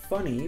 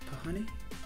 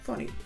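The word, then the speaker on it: Phunny: It's from a company called Funny, but spelled with a PH. So, Pahani? Funny.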